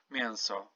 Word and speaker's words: mięso: say eng, n, and it's literally pronounced like mięso, for example. Mięso, it's like en, you're saying mięso. But you kind of not say this n, just say mięso.